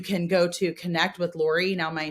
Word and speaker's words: Lore: go to connect with Lore. Now, my name is spelled Lore. My real name's Dolores. So that's Lore is Dolores chopped up.